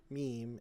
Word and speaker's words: meme: bring up the fact that Y is meme pronounced meme instead of meaning oh god I actually looked